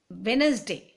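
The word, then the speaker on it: Wednesday: डे वेड नस डे लेकिन pronunciation में हम बच्चों को ये सिखाएंगे कि वेनसडे डी साइलेंट हो जाता है और भी बहुत स्पेलिंग्स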